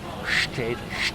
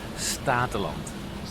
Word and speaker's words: Staete Landt: Because you're doing it the German way. Ah. And Abel Tasman was not a German. Right. Staete, that's German, and the Dutch would have said Staete Landt.